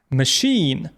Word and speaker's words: machine: І в таких випадках ch читається як ш. Шеф. Шеф-кухар. Machine машина.